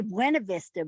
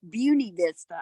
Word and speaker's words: Buena Vista: I always say Buena Vista, but they say it's Beauty Vista.